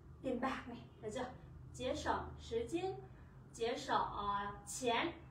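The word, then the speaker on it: 节省: Từ này chúng mình đọc là chế sỏng.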